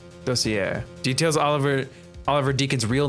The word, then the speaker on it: dossier: Colin Deveray's Desoyer. I don't know how to say this word. Desoyer? Desoyer? Dossier. Yeah, say it like that. Dossier.